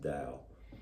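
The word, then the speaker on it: Tao: in flow with the da d t AO although it's pronounced da if you're not in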